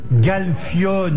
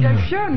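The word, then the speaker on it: Galfione: Galfionne. Galpion.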